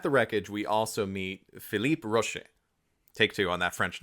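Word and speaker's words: Philippe Roaché: So, at the wreckage, we also meet Phipe Rosh. Take two on that French name. Everyone calls him Roach. I'm trying to I'm trying to pronounce his name the way he pronounces it, but I suck at French accents.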